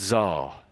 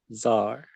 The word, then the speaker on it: czar: They're both pronounced basically the same, and it's Czar. It's Czar, Czar. Tsar.